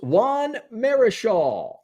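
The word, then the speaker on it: Juan Marichal: cter could name that player and I'm gonna pronounce this guy's name correctly it is not Ichiro but it is Juan Marisha de dude from durier that dude from durier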